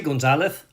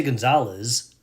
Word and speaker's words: Gonzalez: is Gonzalez when I say Gonzalez you hear the th the lisp sound I don't say Gonzalez well because in Spain that's the way they pronounce it the th is a th.